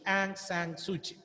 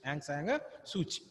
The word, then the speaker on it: Aung San Suu Kyi: Spelling is Aung San Suu Kyi. Okay. But that is not the correct pronunciation. It is Aung San Suu Kyi. Aung San Suu Kyi.